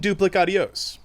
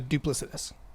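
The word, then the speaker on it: duplicitous: I promise you, sir, this is nothing duplicios. It's a duplicitus. Keep going. It's okay. That's you. That word is pronounced duplicitus.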